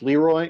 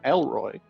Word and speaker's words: Leroy: Although he did also uh get my name wrong because it I I uh my name my character's name is Leroy and he called my character Elroy.